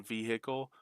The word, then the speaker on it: vehicle: And it gets shifty aways being from the south, they pronounce the H in vehicle. We don't.